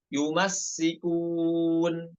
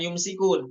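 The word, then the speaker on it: يمسّكون: Nomor 17, yumassikun. Bukan yumsikun. Yumsikun itu pada riwayat lain, namun pada hafaz sinnya dibaca tasydid. Yumassikun.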